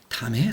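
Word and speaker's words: 湛: 무지 무역과 무의 그다음에 담의 사업전 또 담 담이라고 읽어요 이거는기에 아주 그냥 적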